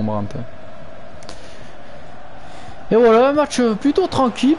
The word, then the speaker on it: Brandt: foule ian brown julian bram plutôt à la prononciation c'est pas un espagnol mais bon c'est un allemand brandt et la match plutôt